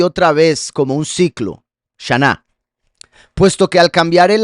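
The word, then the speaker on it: שנה: Año en hebreo se pronuncia shaná. Shaná."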